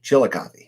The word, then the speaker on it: Chillicothe: How do you pronounce that? In Chillicothe. Chillicothe.